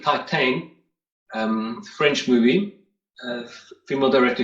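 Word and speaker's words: Titane: let us know yeah it's titan i guess my people pronounce it titan um french movie female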